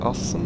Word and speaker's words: Assen: Assen? I think Assen is the right pronunciation in Dutch.